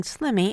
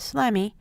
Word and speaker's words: slimy: ending valves will schwa if a student mispronounces a syllable for example saying slimmy instead of slimey turn back in the